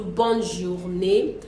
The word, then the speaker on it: bonne journée: But when it comes to bonne journée, because the N is double there, so we have to pronounce the N and say bonne journée.